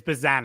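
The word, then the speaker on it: Bazzana: It's Bazana.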